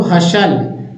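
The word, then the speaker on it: hustle: है साइलेंट है तो हसल यहां भी टी साइलेंट है बसल अपोल यहां भी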